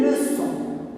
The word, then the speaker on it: leçons: Les leçons. Leçons. C'est comme maçon, c'est comme garçon. Il faut mettre une cédille pour que ça fasse son.